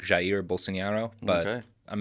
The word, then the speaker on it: Jair Bolsonaro: I believe it's supposed to be something like Jair Bolsonaro.